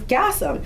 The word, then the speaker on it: Gassam: so he took the N off and it's Gassam.